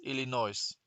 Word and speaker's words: Illinois: Et Michel hat geschrieben Illinois. Lachsol hat geschrieben Illinois. Du geht auch nicht. Don't say the S, Illinois.